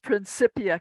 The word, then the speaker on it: Principia: say is I oh I my college is pronounced principia College that's latinum okay thank you yeah you're